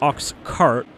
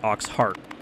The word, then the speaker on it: ox cart: else sounded right so it's ox cart not ox heart which I mean it